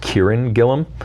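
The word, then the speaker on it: Kieron Gillen: example is I think his name is pronounced Kieran Gilliam he's a writer he's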